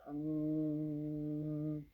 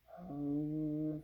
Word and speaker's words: Ham: The sound is hum, hum, spelled like ham.